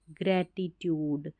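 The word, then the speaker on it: gratitude: GRA grey, TIT, और इसको टुड नहीं, ट्यूड, ग्रेटिट्यूड, यानी कि आभार।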